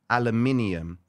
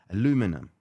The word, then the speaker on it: aluminium: And the word aluminium is how you say it. I know you guys in the US, I had to Google it, man. Aluminum. No, aluminium. That's how we say it.